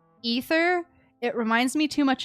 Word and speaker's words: Aether: even though I know his name is supposed to be pronounced ether it reminds me too much of Ethan and that sounds too normal to me and so I say ather instead and I'm like